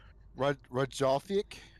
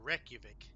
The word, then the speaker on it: Reykjavik: an Icelandic video game company, and I cannot pronounce their name that they're located in. So, We'll start with. eh, I think it's Reykjavik. Oh, Reykjavik.